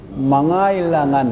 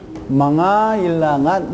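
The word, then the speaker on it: mangailangan: 그러니까 망 다음에 까일랑한 이렇게 망까일랑한 이렇게 나와야 되는데 K가 생략되니까 어떻게 발음해야 됩니까? 망아일랑 이렇게 돼요. 망아일랑. 망아일랑. 예. 망아일랑한 이렇게 하십니다.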